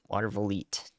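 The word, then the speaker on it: Watervliet: It's just that last syllable. Watervillette. I did it like 5 times earlier. I forgot if it was et or eat. That was the only part I didn't remember.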